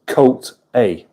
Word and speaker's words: Kota: Kota, pronounced Coat A.